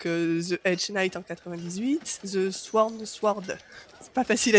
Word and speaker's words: The Sworn Sword: Donc The Hedge Knight en 98, The Sworn Sword, c'est pas facile à dire. Oh sais pas si on prononce pas mal, genre le W, tu vois.